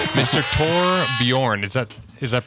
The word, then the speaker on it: Torbjørn: It's episode 274 and we are joined by Tor by Tor Bjorn. I must put the wrong O in the wrong place. Mr. Tor Bjorn.